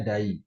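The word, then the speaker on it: 第: Satu huruf ini aja artinya yang ke bacanya dai.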